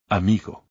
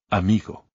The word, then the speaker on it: amigo: Amigo. The stress goes on the second to last syllable because the word ends in a vowel, N, or S, and there is no accent. Amigo.